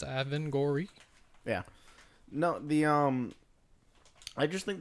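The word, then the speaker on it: Avengorii: Yeah, pronouncing it right. It's Avangori.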